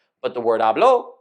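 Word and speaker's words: habló: stress but the word ablo with the second syllable stressed is the predate form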